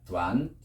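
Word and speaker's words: 短: 짧을 단자 두안.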